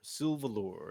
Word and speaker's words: Sylvalor: is spelt s-l-r-s-y-l-v-a-l-u-r sylvabor it's silva silva and then lore yes lure sylvalor it's a very elfish